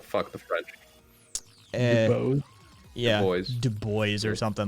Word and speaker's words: Du Bois: You pronounced it wrong on purpose. It's like fuck the French. Yeah, Du Bois or something like that.